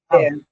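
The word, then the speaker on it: אב: Ça nous donne le mot euh AV. Ouais. Ça donne le mot AV. Voilà. Ça s'écrit AB mais ça se prononce AV.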